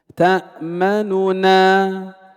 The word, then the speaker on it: تأمننا: وجه الاختلاس وهو المقدم في الأداء، ننطق بنونين لكن النون الأولى ضمها يسير. تأمننا تأمننا.